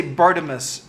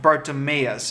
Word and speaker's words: Bartimaeus: is a the yeah I always want to say Bartimeus trilogy but I think it's pronounced bartimaeus is the name of the